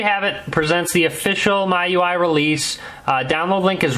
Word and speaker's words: MIUI: link in the description my UI I don't I believe that's what it's how it's pronounced no one really knows for sure I call it my UI cuz my user interface so that's kind of what I call it sometimes I call it Mi UI I've heard it called